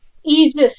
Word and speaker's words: Aegis: like are you uh Agy a AIS Striker Aegis Striker is how it's pronounced Striker got it uh